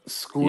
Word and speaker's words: Scull: School.